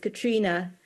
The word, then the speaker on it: Catriona: My name is pronounced “Catrina”, without the “o” sound.